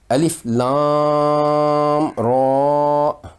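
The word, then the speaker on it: الر: لمبی مد اصلی ہے۔ ان حروف مقطعات کا تلفظ اس طرح ہوگا: الف لام را۔ ہمیں معلوم ہے کہ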